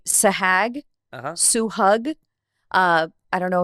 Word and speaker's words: Suhag: You, as your name, I mean, your name is Suhag. I did not go by that in high school. What was your name? So I went by because so one, the name Suhag was very hard to pronounce for people.